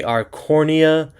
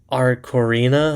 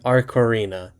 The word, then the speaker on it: Arcorina: for some reason cuz I keep wanting to say Arornia. Aror Arorina. Like, Arora does not sound right. It's Ara Corina, I think. A Cororina like Aquafina.